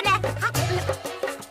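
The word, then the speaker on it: know: तो करनी ही चाहिए ना। Good idea. तो शुरू करते हैं मिशन एग्जाम्स। और इसीलिए नो में के होता है साइलेंट।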